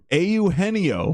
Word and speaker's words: Eugenio: Eugenio? Eugenio. Is it? Yeah, Jesus Christ. Every letter gets its own syllable.